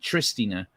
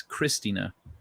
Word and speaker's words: Cristina: There's no ch. It's not Tristina. It's Cristina.